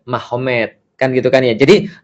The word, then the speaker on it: Magomed: Jadi tulisnya Magomed, tapi bacanya Mahomet.